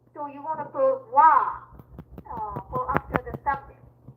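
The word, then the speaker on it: は: So, it's written as ha in hiragana writing. But, it's pronounced as wa.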